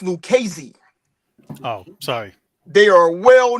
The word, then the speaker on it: Lucchese: The family is pronounced Lucchese.